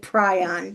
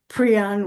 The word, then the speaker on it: prion: is on pron diseases I keep trying to say prion because that's an alternate pronunciation that I used to use when it was strictly in my written vocabulary and then when I heard people talking about it I figured out that prion was the preferred pronunciation so do we have